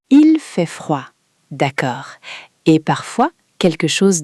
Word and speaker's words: froid: Attention à la prononciation, il fait froid. Le dé est silencieux. Il fait froid.